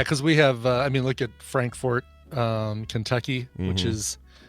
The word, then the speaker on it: Frankfort: Not the same, yeah, because we have, look at Frankfort, Kentucky, which is, not Frankfurt, but Frankfort.